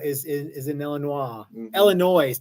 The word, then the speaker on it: Illinois: is in Elin nois Illinois did you know that if the good Lord didn't want you to pronounce that s he wouldn't have put it on the end Illinois Illinois yeah Illinois